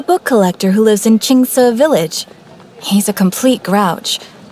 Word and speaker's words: Xingqiu: A book collector who lives in Xingqiu village.